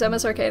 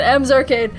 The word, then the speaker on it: Emma's Arcade: But he said her name's Emma's Arcade, except he said it wrong because he always says it wrong. He said M's Arcade, and he pointed to